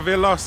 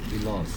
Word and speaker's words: Veloz: Veloz. Some people pronounce as Veloz, is it? Yeah. Oh, the real correct pronunciation is Veloz Yeah. not Veloz Okay. Dah dengar Veloz, bukan Veloz.